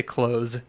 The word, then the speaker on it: clothes: I say close, like a door, like close.